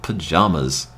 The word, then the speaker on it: pajamas: How do I pronounce the second syllable of pajamas? Like palm, pajama.